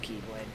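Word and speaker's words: χ-blade: Yeah, that's why I Z-Blade? said it. Z-Blade. It's literally just pronounced Keyblade.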